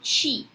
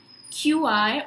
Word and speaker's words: Qi: are even right now it's called Qi Qi or c-h-i according to wherever you pronounce it and that's again life